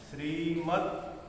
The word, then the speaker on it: श्रीमद्: भगवत त अर्धा आहे आणि भगवत द पण म्हणजे श्रीमतचा द आणि भगवतचा द हा पण अर्धा आहे तर श्रीमत त्याला अर्धाच उच्चार आहे भगवत भगवत गीता असं असा उच्चार अथ श्रीमद् भगवत गीता उच्चारण करा श्रीमद् भगवत